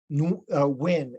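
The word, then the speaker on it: Nguyen: this yeah I think the author's name is Viet which is kind of funny Viet win and it's spelled n-g-u-y-e-n right then when something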